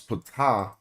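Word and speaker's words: Ptah: And we don't even realize that the last person they talking about is Pata cuz this ain't Greek. So we do pronounce the P.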